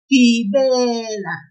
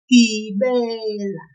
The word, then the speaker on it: Gibela: Now, we will pull the second syllable in this one, that be, just a little bit, like this. Listen. Gibela. Gibela.